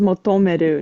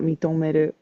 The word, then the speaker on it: 求める: This is pronounced as motomeru, not mitomeru.